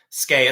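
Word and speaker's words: skeigh: you have to know skae, assuming that's how it's pronounced. You know, sleigh is you know, s l e i g h is sleigh, so s k e i g h should be skae, but uh as we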